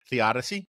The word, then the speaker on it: theodicy: Theodicy.